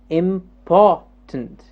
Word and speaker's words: important: interesting next word here the poor jumps up important yes important the poor gets stressed important important